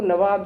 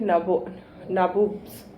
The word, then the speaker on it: नवाब: और जो ब्रिटिश थे उनके वो नवाब, दे वर नॉट एबल टू से नवाब, तो वो कहते थे नाबूब्स, नाबोब्स। नवाब की जगह उसको कहते थे नाबोब्स, है ना, क्योंकि उनका प्रोनाउंसिएशन डिफरेंट होता है। They will not be able to speak नवाब, तो उसको वो नाबोब्स कहते थे।